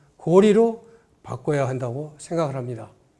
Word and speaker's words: 高麗: 그래서 하루빨리 이것은 교과에서 고구려는 고구려로, 고려는 고리로 바꿔야 한다고 생각을 합니다. 자, 고구릴 1000년, 고려 500년간을 리자라고 읽었는데 불과 조선시대 몇백 년 전에 잘못 읽은